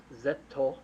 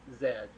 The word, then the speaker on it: Zedd: Well, I mean, obviously, it's semantics where it's like the way Japan pronounces the letter Z is Zetto, and I guess a close English equivalent would just be Zedd.